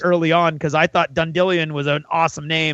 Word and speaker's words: Dandelion: I've got a couple theories, but Russ, remember the bard Dundillion? Yeah, right. Okay, well his name is now Dandelion. No, yeah, that's a thing. It's spelled dandelion. Okay, but it's been depends on the narrator. In the audiobooks it's been Dundillion. Yes. I never knew it was spelled Dandelion. It's been Dundillion in all of the audiobooks.